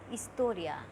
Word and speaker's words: historia: H is historia. H is silent in Spanish, so we will say it historia.